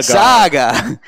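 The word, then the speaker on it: Saagar: i don't know s-a-a-g-a-r how would you pronounce that as a sock what is it again saga like sega like craig sager yeah okay um he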